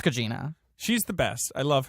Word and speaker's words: Gugino: I worked with her and I could still never remember how to pronounce her name. I think Gugino. it's Gugino.